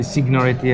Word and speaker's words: Signoretti: Hi, I'm Signoretti, actually Signoretti as it is pronounced in the US, and I'm writing on Juco.it.